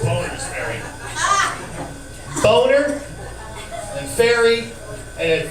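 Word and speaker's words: Bonners Ferry: It looks like Bonner's Ferry, but it's pronounced Boner's Ferry.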